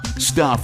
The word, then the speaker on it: Stuph: Stuff is spelled S-T-U-P-H.